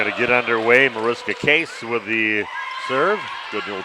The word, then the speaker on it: Kees: But no, it's Case. So like a case of soda.